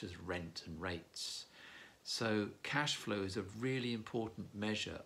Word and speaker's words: cash flow: Hello, this is Peter from BizWords, and today's business phrase, a simple one, is cash flow. Cash flow, the accent is normally on the first syllable, cash.